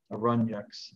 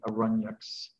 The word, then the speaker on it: Aranyakas: You could pronounce it I would say Aranyakas, but apparently it should be pronounced Aranyaks, some the A is silent at the end, the Aranyaks.